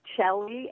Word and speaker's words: Chellie: go to my website my name is shelly and it's spelled c-h-e-l-l-i-e and my website at